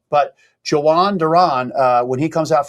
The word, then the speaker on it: Johan: And then it's Johan.